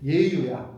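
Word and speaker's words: 與猶: 글을 모은게 여유당 전설인데 사실은 여유라고 읽으면 안 돼 이거 예라고 읽어야 돼 예유 예유 예유 예나 유가 노자에 나와요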